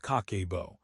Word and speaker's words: Kakeibo: Kakebo, pronounced Kakebo, translates simply to household financial ledger.